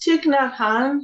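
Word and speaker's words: Thích Nhất Hạnh: say that i i don't know how to pronounce it yeah it's chic na han he's the great uh buddhist monk and peace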